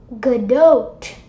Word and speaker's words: Godot: and implemented it into Godot what goodot that's how that's how you're supposed to pronounce it so then I implemented